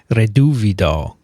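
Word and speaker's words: Reduviid: Another reason to listen is that Alan's punning is almost as good as Vincent's pronunciation. So, Vincent, how do you say that bug? Reduvido.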